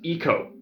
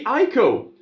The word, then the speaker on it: Ico: I that should be ieko when people say Eco I assume eco-friendly and economics you know why do people pronounce this as Eco why not Aiko anyway there was no